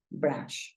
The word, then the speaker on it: brush: Entonces, mira, brush. Acuérdate que la U la estamos pronunciando como una A. Entonces, si tú dices brush, es una palabra que termina en SH.